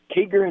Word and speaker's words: Kiger: Kiger, is that how you pronounce it?